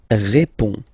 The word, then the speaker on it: réponds: Je réponds. Je réponds. Okay, so you can see that D and S here are not pronounced.